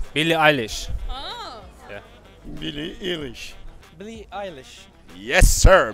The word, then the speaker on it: Eilish: how are you i'm super fine eilish english billy eilish yes sir billy eilish really eyeless nice see you were scared billy ellis billy eilish nice mark zuckerberg mark zuckerberg